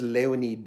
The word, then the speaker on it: Leonid: I want to say it the Russian way. And so I think he said it was Leonid and Friends.